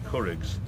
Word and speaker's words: Curraghs: They go and do the Curraghs first of all, which is really nadgery and horrible. Not crafts, like I used to say it.